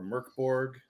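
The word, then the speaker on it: Mörk Borg: we had all met, uh, playing Hyperoreia andor Merkborg. I think that's how it's pronounced.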